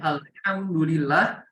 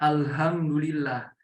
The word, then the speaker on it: alhamdulillah: gak tahu makharijul huruf, yang harusnya alhamdulillah malah dibaca alhamdulillah. Jadi antara H dan H itu beda ya. H kecil dan H besar itu beda.